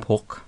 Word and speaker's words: porc: So, and pork is actually almost spelt the same way, but pronounced without the K in French. Yeah. Porc.